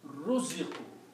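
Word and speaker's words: رُزِقُوا: If I take the first two letters here, first one has a fatah. If I change that to a dhamma, and the second letter has a fatah, if I change this to a kasra, okay, so the word now becomes ruziqu.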